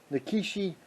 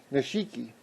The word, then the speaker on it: Nishiki: and these are uh nikishi five inch wulu brake shells everybody likes the nikishi shells or I'm sorry I pronounced that wrong Nishiki why I say nakishi uh the ward is Nishiki Mississippi Gambler The Cheeky